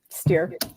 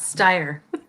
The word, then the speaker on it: Stier: But if you say Stier, I always tell people, take the S off, and then what do you have?